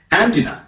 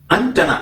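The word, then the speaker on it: antenna: എന്താണോ ചാരണം നമുക്കൊന്ന് നോക്കാം ആന്റിന അത് തെറ്റാണ് ആന്റിനയിൽ അമ്മായി ഇല്ല ആന്റിനയിൽ ആന്റി ഇല്ല അന്റണന എന്നാണ് പറയുന്നത് ആന്റണഇസ് നോ വർക്കിങ് റഡാർ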